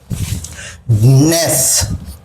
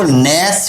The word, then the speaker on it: ness: इसके अलावा एक वर्ड और आता है नेस, NESS, इसको नेस भी पढ़ते हैं और इसको निस भी पढ़ते हैं।